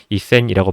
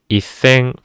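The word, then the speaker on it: 千: 이것도 한국어로 간단하게 한글로 간단하게 적었을 때는 이런 식으로 이센이라고 적을 수 있겠지만 이센이라고 발음한 게 아니라 받침에 조금 신경 써서 이생 이렇게 발음을 해주시면 되겠습니다.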